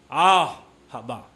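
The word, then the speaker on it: אהבה: maganda salitang Hebreo at ang pagbigkas ng salitang Aha pagibig sa ay parang hininga ah haba ah haba ah haba Alam niyo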